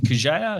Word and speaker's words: Kurzeja: Today we're with Kurzeja, who is the Chief Technology Officer at 2degrees.